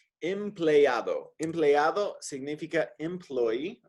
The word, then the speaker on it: empleado: ¿Qué significa empleado? Empleado. Empleado significa employee. Remember those vowels. You always pronounce them. A-O. Empleado.